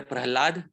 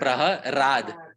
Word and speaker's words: Prahlad: In Sanskrit, there is no differentiation between the syllables la and ra. Sometimes you hear Prahlad, sometimes you hear Praharad. There is no difference between la and ra.